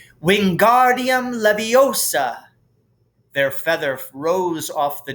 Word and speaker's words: Wingardium Leviosa: having much more luck wingardium leviosa he shouted waving his long arms like a windmill you're saying it wrong harry heard hermione snap it's wingardium leviosa make the gar nice and long you do it then